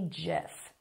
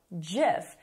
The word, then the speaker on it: GIF: and it's called a GIF. So officially, correctly, it is called GIF. However, a lot of people call it a GIF.